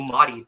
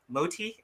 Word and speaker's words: Moti: worked with you know i've been calling you motty but it's mo moti is fine everybody calls him like